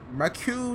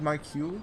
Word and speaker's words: Marquis: need the good old, is that just Marquis? I think the S is silent.